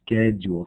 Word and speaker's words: schedule: This is going to be pronounced like schedule, kind of like sk and then jewel.